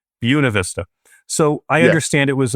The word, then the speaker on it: Buena Vista: to actually write a little note to myself here on the side to remind myself it's like Buick. Buena Vista.